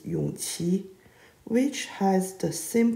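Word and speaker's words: Yongji: in the tv drama they called the 12th prince yung which is wrong the correct way to read his name is yung chi which has the same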